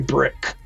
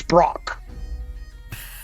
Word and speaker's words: Brock: As you're walking back, my name's not actually Brick. It's Brock. Brock?